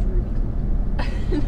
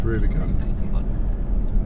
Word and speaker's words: Rubicon: So it's not pronounced Rubicon? No, it's not. No, it's Rubicon.